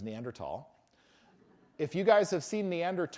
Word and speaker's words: Neanderthal: Many anthropologists like to say Neanderthal because we like to break stereotypes. And the place is said Neanderthal. And in fact, when it came into English, it's spelled Neanderthalensis. They give it a species name, Homo Neanderthalensis, but with a TH. In Latin, you don't say the H.